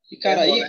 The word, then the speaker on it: Icaraí: Icaraí, qual é a sílaba mais forte? É o I.